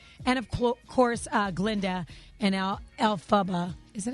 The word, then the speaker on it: Elphaba: And of course, Glinda and Elphaba. Is it Elphaba?